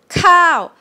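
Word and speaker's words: ข้าว: cow to enter now i'm going to compare to the long version which is rice yeah cow cow cow it's longer yeah this one is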